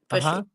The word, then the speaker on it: Bushley: Is it Bushley? Is that how you say it? Yes, Bushley.